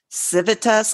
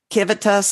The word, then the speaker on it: civitas: so it might be civitas, and I think their V's might be pronounced other ways too.